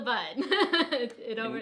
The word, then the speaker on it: Bund: No, it's called the Bund. In Shanghai, there's the Bund, which is the Bund. Bund. B-U-N-D, That's it. Bund. You're right. I was saying it wrong.